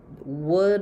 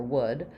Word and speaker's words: would: sounds like wood um this is the L is silent the same as the